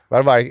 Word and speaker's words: Varberg: Varberg? Yeah, yeah. Okay. Varberg, it came up as like Surf City, Sweden.